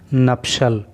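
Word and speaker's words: nuptial: देखो इस वर्ड का प्रोनाउंसिएशन आपको ख़ास तौर से याद रखना है। इसको पढ़ते हैं नप्शल और इसका हिंदी अर्थ होता है वैवाहिक या विवाह संबंध।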